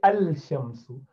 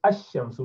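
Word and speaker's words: الشمس: You do not say al-shamsu. You say ash-shamsu without pronouncing lam.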